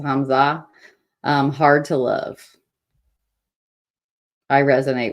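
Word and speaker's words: Hamzaa: I don't want to say anything that sounds like Hamas because that's not it, but it's Hamza.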